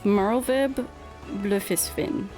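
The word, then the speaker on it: Merlwyb Bloefhiswyn: Okay, I said Admirable again, but also I learned how to pronounce her name. It's Merlvib Blefisfin.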